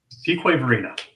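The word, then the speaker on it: Fuquay-Varina: Fuquay Varina. There you go. Yeah, it's not pronounced like it looks like, right?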